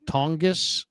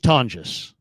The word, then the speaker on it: Tonges: Is it a hard G? It's a Tongis. Jake Tongis. Tongus. Jake. Tongis. Yeah, I'm gonna go. A hard G. Pronunciation. I'm looking up pronounced tonis. Ton like ton. Like you're yawning. Ton. J. So J. So the second one's right.